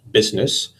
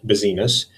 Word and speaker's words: business: guessed 3 but remember it is pronounced business and not busyness it is in fact a word with two syllables it's a grim reminder